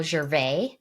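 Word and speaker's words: Gervais: the book and that the author isn't Ricky jvas it's the first rule of Mastery by Michael Jer he doesn't pronounce the S I don't know if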